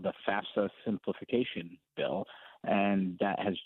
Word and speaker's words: FAFSA: gone there, the federal, it's the FAFSA is how I pronounce it.